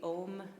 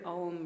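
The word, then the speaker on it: aum: word m written out it is uh most accurately spelled with an a u m a u m all three of those sounds so starting with an openness that becomes directed and it's just the vibration of the M that we can feel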